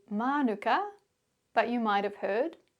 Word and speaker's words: mānuka: Well, what you can see or hear in these examples is both the maui pronunciation piko manuka ki putukawa and the anglicized version kawaii pura